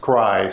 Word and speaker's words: scri: And that's denoted with the script I, and it's pronounced scry, so that's an old standard in the literature, so that's something that distinguishes someone who's in from someone who's out. If you say scry, you're in.